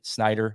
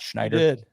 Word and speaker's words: Snyder: Snyder, not Schneider.